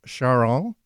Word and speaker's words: Charon: With John Kullmann, and we're going to be hearing from Charon. That's the French pronunciation of his last name.